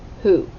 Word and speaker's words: who: a w w h who so tricky all right so the w is silent the w h sounds like h and the o sounds